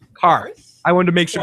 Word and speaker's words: Qarth: They're from a city called Qarth. Qarth. I wanted to make sure I did it correctly. Qarth? No, not Qarth.